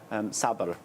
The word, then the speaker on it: sabr: Because, help me with the pronunciation, sabr. So, Sabr.